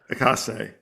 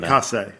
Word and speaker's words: Izaakse: And the art, correct me how to pronounce it, Sean, is Izaakse. Yeah. Izaakse. I think okay. Yeah. I think that's right. Izaakse.